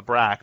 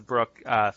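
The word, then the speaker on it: Braak: more inflammation so the what i used to call the brach but i think it's actually he pronounced the brook theory has been around for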